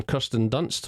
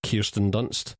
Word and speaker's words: Kirsten Dunst: Further support comes from Kirsten Dunst, or Kirsten Dunst, as I increasingly hear her name being pronounced, in a low-key but solid role as